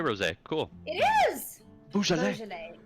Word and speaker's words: Beaujolais: I've heard it pronounced Beaujolais By whom? by sommeliers. Bougie lady. No. Let's just call it Yeah, bougie. because it's Beaujolais. Beaujolais is the region of France.